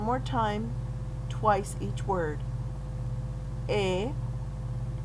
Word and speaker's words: he: He, remember the H is silent in Spanish.